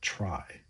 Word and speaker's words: trie: It's derived from the word retrieval, but we pronounce it like try because we don't want to confuse it with other trees such as the binary tree or the search tree.